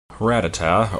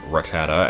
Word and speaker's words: Rattata: back in a while Rattata or ricotta as I usually mispronounce it and will probably continue to pronounce it just because it sounds more natural to me is one of